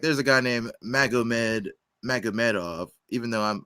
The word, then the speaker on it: Magomed: Like, there's a guy named Magomedov, even though I was told that Magomed is actually pronounced Muhammad.